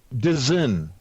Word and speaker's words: DAZN: It's currently operating like DAZN, where if it's live, What's that? It's a boxing. DAZN is how it's actually pronounced.